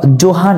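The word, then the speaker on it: Johann: দেয়া ছিল যে গ্রেগর জোহান মেন্ডেল বন্ধুরা এটি আসলে ভুল বলা যাবে না কারণ ইংলিশের উচ্চারণে অনেকটা জোহানের মত হয় আবার যে এর উচ্চারণ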